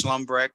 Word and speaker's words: Shlumbrecht: next case is a revocation it's Mr schlumbrack is that the correct pronunciation of your name sir yes sir would you give us your full name and Doc number schlumbreck 474626 thank you Mr slumbback uh this is